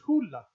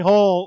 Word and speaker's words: Hole: version of the film it's pronounced hula hula okay so but but so like it's like here comes harry hall like the whole movie